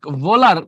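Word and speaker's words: Wöhler: করে দিতে পারি ঠিক আছে আচ্ছা এটা ফ্রেডরিক ভোলার বলি আমরা ওহো লিখতে পারি একই কথা কারণ এটার উচ্চারণটা হচ্ছে ডব্লিউ এইচ এলই আর ফেডলার আচ্ছা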